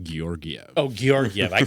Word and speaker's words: Georgiev: It's pronounced Georgiev.